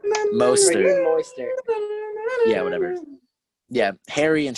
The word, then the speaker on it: Mostert: Not Mozart. I cannot pronounce his name for my life, but Mostert? Moister.